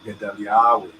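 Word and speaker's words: גדליהו: The hay there, and it's always going to be pronounced like Gedaliahu, right?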